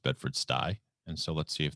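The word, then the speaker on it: Bedford-Stuy: bedford stewie it's pronounced bedford sty and so let's see if the spelling helps because sty is actually a word i do believe as in pigsty seems to be taking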